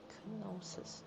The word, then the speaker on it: Knossos: Knossos, okay. That's how you pronounce that name.